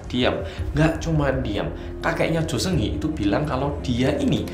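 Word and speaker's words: 조승희: Cara baca Korea yang benar adalah Jo Seung-hee.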